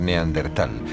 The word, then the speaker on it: neandertal: largo de los años el nombre se escribió y pronunció de diversas maneras en razón de su origen alemán si bien hoy en día se tiende a aceptar neandertal prescindiendo de la H que seguía a la t en la actualidad se